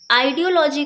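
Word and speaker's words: ideology: Audio, यहाँ से audio निकल कर आया, और LOGY यानी कि लॉजी।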